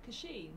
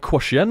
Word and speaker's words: Kashin: How would you even pronounce that, Claire? Kashin. Really? Yeah. Kashin? Kashin. Kashin? Kashin, yeah. See, I was saying like Quashen or something like Quashen.